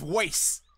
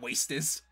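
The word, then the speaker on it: Wastes: It's Waste, not Wastus.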